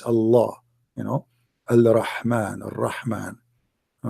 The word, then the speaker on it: Allah: It's just you have to say the L twice. Allah, you know, Al-Rahman, Al-Rahman.